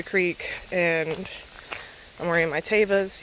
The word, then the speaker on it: Tevas: I just walked through the creek and I'm wearing my Tevas. Yes, they are pronounced Tevas, not Tevas.